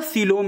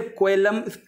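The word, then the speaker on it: coelom: आपका बेसिस है तो आपका सीलोम इसे कहते हैं। ठीक है, सीलोम, इसे कोएलम भी कह सकते हैं, लेकिन हिंदी में कह रहे हैं, इसका जो प्रोनाउंसिएशन रहेगा वो आपका रहेगा सीलोम रहेगा।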